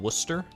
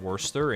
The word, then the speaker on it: Worcester: in there you can't don't tell me that R is silent them is fighting words you can't have a word like like Worcester have a silent R when we're worse when Worcestershire does not have the silent r that hurts my soul